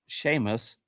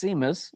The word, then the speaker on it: Seamus: Yeah, that's definitely pronounced Sheamus. Nope, it's Seamus. We We're good with that. S E A M Us. There's no H in that Just saying.